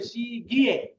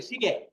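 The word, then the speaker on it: 시계: যেমন আমি আপনাদেরকে একটা শব্দ দেখাই, কোরিয়াটা এটার এর সাথে এই যে এটাকে নিয়ম অনুযায়ী উচ্চারণ করতে গেলে উচ্চারণ হবে সি গিয়ে, সি গিয়ে। কিন্তু কোরিয়ানটা এটাকে উচ্চারণ করে শিগে, শিগে, শিগে।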